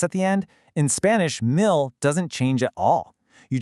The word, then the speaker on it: mil: Thankfully, it is incredibly short and easy to pronounce, mil.